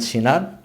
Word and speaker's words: Cinar: Silva and today I'm here with a special guest, Cinar. Yes. Hi. Hi. How are you? Good? Thank you, I'm good. How are you? I say your name properly? Say- Cinar.